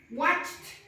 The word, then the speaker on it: watched: When you collocate the ED, yes, the pronunciation is similar to T. Yeah? So in here, the pronunciation is watched, watched, practiced, practiced, worked, cooked.